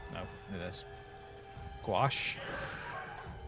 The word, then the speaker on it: gouache: Gouache? That's not how those letters work. It's a French word, isn't it? Those dang French and not pronouncing letters.